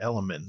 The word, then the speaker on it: LMNT: Element. Is that how it's pronounced? Element. That's right.